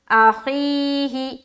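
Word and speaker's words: أخيه: تو ہجے کرتے ہیں، حمزہ زبر ا، خایا زیر خی، ہا زیر ہی، اخیہ اخیہ، ٹھیک ہے، سمجھ آ رہی؟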